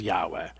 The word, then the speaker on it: Yahweh: in Hebrew that is Yahweh. That is the name of God Yahweh. We used to pronounce it Jehovah but modern scholars now think the way to pronounce the word is is Yahweh.